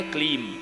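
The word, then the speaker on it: क्लीं: है ने कहा कि यह क्ली नहीं है इसका शुद्ध उच्चारण है क्लीम यह कामराज भीज है भगवती महाकाली का और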